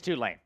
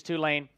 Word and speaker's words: Tulane: Dorian Williams linebacker from Tulane as somebody has spent a lot of time in Louisiana will you would know this it's not Tulane it's Tulane it's Tulane it is it is two lane uh make no mistake